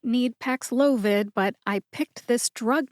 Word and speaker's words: Paxlovid: you get PX loid emphasize the second syllable which is low now when I say it fast you don't really hear the emphasis packs loid but that is the syllable that you emphasize see if you can